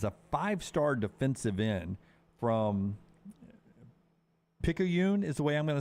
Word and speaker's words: Picayune: Jamonte Waller is a 5-star defensive end from Picayune is the way I'm going to say it, Mississippi, but he's from over in Mississippi. Is that correct? I got that right? Yeah. Lunsford? Wow. Picayune is correct?